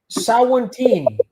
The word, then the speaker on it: Savantini: Catherine says, say Sawantini and spell it Savantini.